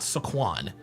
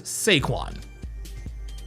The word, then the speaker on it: Saquon: His name is not Saquan. His name is Seaquan.